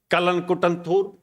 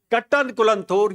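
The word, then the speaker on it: Kattankulathur: Now my good friends are working here at SRM Kalankutanthur. How to pronounce? Kattankulanthur.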